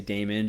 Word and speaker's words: daemon: from the word well it's also pronounced demon but the way we spell it is Dae mo when we I usually say daemon just this you know not to get it confused for the connotations around the word demon the Christian like demon